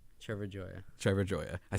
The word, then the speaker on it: Trevor Gioia: Trevor Jaya Jaya Jaya Trevor Joya I said his name wrong I've been saying anymore for a while